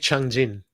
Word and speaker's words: Changjin: Okay, the battle at Lake Changjin. There you go. It's natural. Changjin-hu.